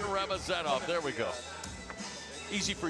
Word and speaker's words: Ramazanov: And I promise the Punisher's family that we'll figure out where to put the syllables in his last name the next time he fights. Ramazan Ramazanov. Yeah, Ramazan Ramazanov.